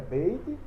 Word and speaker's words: beit: Então, ele com pontinho é beit, ele sem o pontinho é veit.